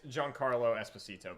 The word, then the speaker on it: Giancarlo Esposito: It's Giancarlo Esposito, by the way. We had the name wrong.